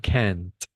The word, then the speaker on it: can't: And and the the pronunciation when we are going to differenti differentiate the pronunciation, it's can and can't. No. The only difference is the t sound at the end.